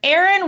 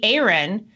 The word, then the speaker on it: Aaryn: former Big Brother contestant entrepreneur mother of four Aaron Williams Aaron thanks so much for joining us or should I say Aaron I'm sure you get that all the time